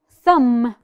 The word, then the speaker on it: thumb: Now, thumb. Thumb. Perfect. The letter B is my silent letter.